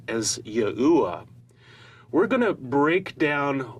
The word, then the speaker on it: Yahuwah: To lay out our case that God's sacred name is correctly pronounced as Yahuwah, we're going to break down what we've learned